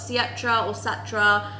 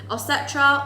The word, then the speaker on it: Ossetra: Ossetra or Ossetra, depending on how you want to pronounce it. It's kind of got a different variation of names.